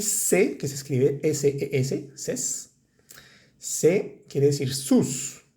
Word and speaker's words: ses: Y se, que se escribe S-E-S, ses.